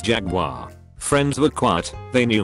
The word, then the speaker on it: Jaguar: friends when we were talking cars and I pronounced to make Jaguar dauch a bag on the next stool takes the time to lean over and say it's pronounced Jaguar friends with quat they knew me turn to